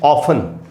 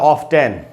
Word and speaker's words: often: अब हम देखते हैं FTEN के ग्रुप में, जैसे ऑफन, ऑफन का मतलब अक्सर, लेकिन हम सभी जानते हैं कि ऑफन वर्ड में US में और UK के भी कुछ पार्ट्स में T का उच्चारण होता है। तो लोग इसको अमेरिकन्स पढ़ते हैं ऑफ 10 ऐसे करके पढ़ सकते हैं।